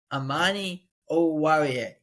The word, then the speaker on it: Amani Oruwariye: Amani Oruwariye.